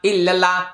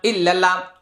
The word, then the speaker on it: ইল্লাল্লাহ: অনেক মানুষ জিকির করে লা ইলাহা ইল্লাল্লাহ, লা ইলাহা ইল্লাল্লাহ, মারাত্মক গুনাহ হবে। লা ইলাহা বলতে কিচ্ছু নাই আরবিতে, ইল্লাল্লাহ হবে না, ইল্লাল্লাহ।